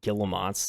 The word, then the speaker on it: Guillemot: pronounce. All right, let's see. Let's see what we got here. Guillemots. Okay, Guillemots.